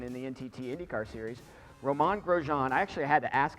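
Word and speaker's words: Romain Grosjean: And for you pronouncing my name right will be your challenge. It's Roman Grosjean.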